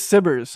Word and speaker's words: SBIRS: Yes, that's how it's actually pronounced, turns out. Okay, so it is SBIRS.